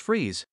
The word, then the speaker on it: Fries: Freeze was a scientist working for Gothcorp with the name Victor Fries, pronounced Freeze.